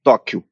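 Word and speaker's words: Tokkio: um projeto chamado projeto Tóquio se pronuncia igual ao Tóquio no Japão mas escreve to kk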